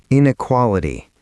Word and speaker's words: inequality: And the last one, inequality. The gap between people in terms of wealth, access, opportunity. Five syllables. In-e-qua-li-ty. The stress lands on the third. Inequality.